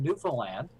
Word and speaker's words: Newfoundland: years my name is I'm from Newfoundland Canada I'm right on the East Coast and